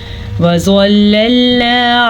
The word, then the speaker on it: وَظَلَّلْنَا: عَلَيْكُمُ الْمَنَّ وَالسَّلْوَىٰ۔ وَظَلَّلْنَا، زوا کو پر پڑھنا ہے ہم نے کیونکہ زوا ہمیشہ ہی پر پڑھا جاتا ہے، لیکن واو کے اوپر زبر ہے تو اس کو وا نہیں پڑھ سکتے ہم۔ وا کی زبر کی مقدار کتنی ہوتی ہے؟ واو زبر وا، بس اتنی سی مقدار ہے، اس کو ہم لمبا نہیں کر سکتے۔ زوا کو پر